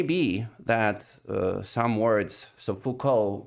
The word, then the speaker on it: Foucault: that some words so Foucault we really do not pronounce the final t uh by convention however